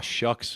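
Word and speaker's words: Shough: Chuck, the Chuck, by the way, is uh, it's pronounced Chuck as in a shucks or as in Chuck Corn. So, Tyler Shuck. Sorry about that. I'm pretty certain I've called him Tyler so before show before.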